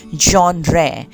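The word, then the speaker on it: genre: इसका प्रोनाउंसिएशन है जॉनरे।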